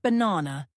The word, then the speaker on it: banana: than others for instance in the word banana the stress is on the second syllable b n n in